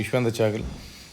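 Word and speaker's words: Yuzvendra Chahal: Second ஹாஃப் players பார்த்தீங்க அப்படின்னா சஞ்சு சாம்சன், யுஷ்வேந்தர் சாகல், இந்த தடவை மாற்றிட்டேன், கரெக்டாக ப்ரொனவுன்ஸ் பண்ணேன். யுஷ்வேந்தர் சாகல், நிதிஷ் ராணா, ரயின் பராக், வனிது ஹசரங்கா, சந்தீப் சர்மா, குமார் கார்த்திகேயன்.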